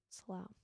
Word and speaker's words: Slough: Rhymes with wow. Slough.